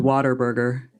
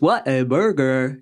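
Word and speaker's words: Whataburger: yeah we pronounce it Water Burger like water Like Water Burger but it's what a burger you know but we say Water Burger so if you're local you would say Water Burger that's all I saw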